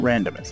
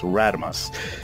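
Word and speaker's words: Radomus: yes i've actually uh somebody told me i've been saying his name wrong and i looked at the way it spell and it's not randomized it's radimus i cannot stay long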